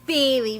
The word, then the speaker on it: Bailey: you're Eddie yo yo my name is Bailey rhymes with Haley you wanna do dishes